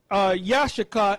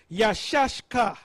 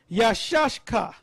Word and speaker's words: Issachar: Now, the way to pronounce it is not Yashaka, is Yashashka. Yashashka.